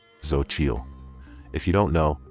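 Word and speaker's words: Xochitl: Account name Zochil. If you don't know, that's pronounced Sochil, spelled X O C H I T L.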